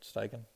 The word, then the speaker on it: Steichen: um offense quarter shane steichen um am i pronouncing that right steiken yeah yep yep um i thought is he